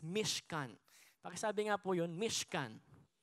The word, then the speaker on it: Mishkan: word po pala ng, sa Hebrew po ng tabernacle is Mishkan.